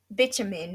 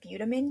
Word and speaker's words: bitumen: word it is we i think we call it what butamine jerdy yes i think yes i call it butamine it is um we have found out it is actually pronounced bitumen so now we all